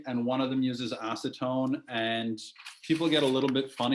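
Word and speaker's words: acétone: Acetone, it's the same word in French, except it's just pronounced French, like acetone.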